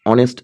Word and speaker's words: honest: It's honest that means H is silent here.